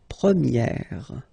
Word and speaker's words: première: And then for the feminine form, you will get première. Okay, so it's open, this eh sound.